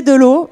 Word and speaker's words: Delaux: tweeté la phrase donc cp de l'eau et de l'eau ça s'écrit d eux elle a eu six voilà